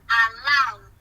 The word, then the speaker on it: allowed: are not allowed okay the pronunciation of this is allowed please not alone with no allowed okay you're not allowed